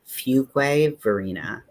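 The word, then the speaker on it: Fuquay-Varina: Did we establish how this town is pronounced? I said it, but yeah. So it is Fuquay Verena.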